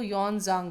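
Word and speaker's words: Xuanzang: पर इनका जो प्रोनाउंसिएशन होता है वो यॉन जांग होता है.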